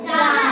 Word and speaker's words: the: তাই ইউ ভাওয়েলের আগে টি এইচ ই থাকার কারণে এর উচ্চারণ কি হয়েছে?